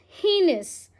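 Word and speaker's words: heinous: Next word है हमारा हीनस। कैसे प्रोनाउंस करेंगे? हिनेस।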